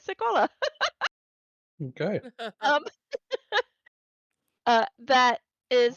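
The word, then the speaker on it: Sekolah: that right but uh let me see if I can say it correctly oh there it is uh no I am saying it right seola okay um uh that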